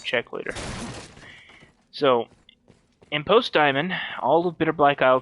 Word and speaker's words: daemon: The pawns pronounce it diamond, I'm pronouncing it diamond.